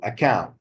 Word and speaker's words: account: thank you open also account account as a noun or as a verb the same thing the stress is on the second syllable not the first not account okay our account no